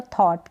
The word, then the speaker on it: thought: यहाँ पर जो TH है इसका उच्चारण थ है, और थॉट ये GH का उच्चारण हो ही नहीं रहा, थॉट हो गया। ये OU है, इसको अ पढ़ा और टी का ट उच्चारण हो गया, टी का ट उच्चारण हो गया, तो आपने इसको रीड कर दिया थॉट।